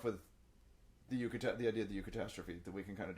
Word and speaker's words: eucatastrophe: Yes, pronounced EU. Like, well, there's a bunch of things like the Eucharist, right? Eudaimonia, things like that.